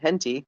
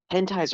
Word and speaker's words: hentai: when my dad was mispronouncing the word hentai and calling it henti which is still my